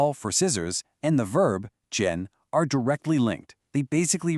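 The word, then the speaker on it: 剪: The word you need now is jen, pronounced jen.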